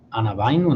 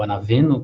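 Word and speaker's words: ἀναβαίνω: E depois, de um lado elevado aqui, o ambão, que inclusive a palavra ambão vem de anabaino, né, ou anaveno, que seria a pronúncia correta, que significa elevar-se.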